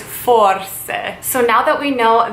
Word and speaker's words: forse: It looks like it is spelled force, and usually the way things are spelled in Italian is how you pronounce them. So in this case, you have to remember that Italian is a very whimsical, magical, musical language. So how you would say maybe is forse.